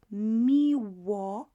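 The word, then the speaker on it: miło: you it's a pleasure so m and i together is me these two letters m i and m i will be pronounced the same way so me wa me me me me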